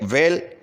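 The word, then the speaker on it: whale: ठीक है, वेल एक मछली का नाम है, तो इसमें एच लेटर साइलेंट है।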